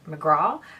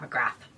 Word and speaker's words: McGrath: Okay, I'm probably going to pronounce this incorrectly because here in Ireland we would say McGrath, when in fact it's probably Pat McGrath. That's how you pronounce that here, just so you know.